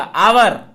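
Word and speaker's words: hour: उच्चारण, क्योंकि देखना ऐसे शब्द जिनका प्रथम अक्षर यच हो, प्रथम अक्षर यच है, वह प्रारंभिक उच्चारण में हा का उच्चारण ना देता हो। उच्चारण कीजिए, क्या आएगा? आवर।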